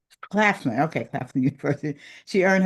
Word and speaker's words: Claflin: A proud graduate of a Chafflin University. Did I say it right? Chaplan. Claplin. Claflin.